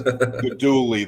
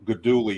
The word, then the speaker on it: Guidugli: It's Guidugli, that G. Whenever you have a GLI in Italian, and it is common in their language, that G is not pronounced. So Guidugli.